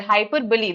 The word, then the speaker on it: hyperbole: Hyperbole, that's how we pronounce it.